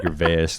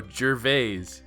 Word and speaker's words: Gervais: Why are you saying Gervais? Are you making fun of him, or is that how you pronounce it in your head? That's how I pronounce it in my head. What is it, Gervais? No, Gervais. Why the hell would it be a jur? I don't know, but it is.